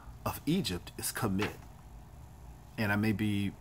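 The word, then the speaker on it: Kemet: name of Egypt is commit and I may be pronouncing that wrong it is K am i t ka MIT and it has been also written kem ET or kam IT but it is what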